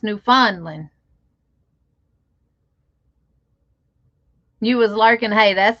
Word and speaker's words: Newfoundland: newfound newfondlin and see i used to pronounce that newfoundland until i found out his newfondling you was lurking hey